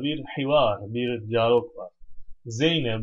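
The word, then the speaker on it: زينب: Zeynep bu diye okuyacağız bunu. Zeynep bun olmaz. Niye? Gayrimustarif. Niye gayrimustarif? Bir, bu kelime nedir? Alemdir, öyle değil mi? Özel isim yani. İki, bir müennes kelimedir. Zeynep bu, Zeynep şöyle diyor.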